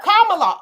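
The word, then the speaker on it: Kamala: have endorsed camea looka say it like the Kon oh commala okay thank you that helps comma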